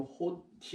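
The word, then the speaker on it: ὅτι: 한 시간이라는 말을 좀 우리가 구체적으로 봐야 되는데, 이 앞에 어떤 말이 먼저 붙여 있냐면 호티, 이런 말을 시작해요. 자, 호티라고 읽게 되는데요.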